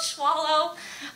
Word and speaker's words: Schwolow: to be inappropriate right and i'm like oh schwallow ah boy that's a tough one why because it's hard to spell it is s-c-h-w-o-l-o-w is not how you thought